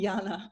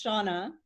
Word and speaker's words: Seonagh: please introduce yourself sure i like when um anabella calls me jana but my usually name is shauna and i'm from canada